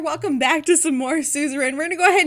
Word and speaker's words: Suzerain: yes i had to look up how to pronounce this and guess what suzerain i was right yes thank you google i